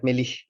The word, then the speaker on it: Melih: The last sound is like h sounds, not h sound, but it's like Melih.